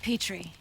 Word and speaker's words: Petrie: here robin laura petry we pronounce it petrie actually oh like the dish walnut square undercover in